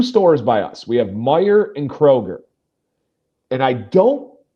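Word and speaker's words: Meijer: But so many people say Kroger's and so many people say Myyers. Yeah. We we prefer lurker. We prefer Meyer as well.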